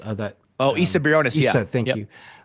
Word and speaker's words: Isa Briones: So the character, the actress, um, I might get her name wrong. Isa Briones, that Oh, Issa Briones, yeah, Issa, thank yep.